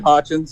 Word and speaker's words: Hochins: Hawkins? How do you say it? No, you had it right, Hochins, yeah.